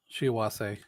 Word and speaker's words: Shiwase: Shiwase. Because they're Well, that's what I was asking was pronunciation, not spelling. sorry. Spelling ends with an E, but pronounced yes with an A.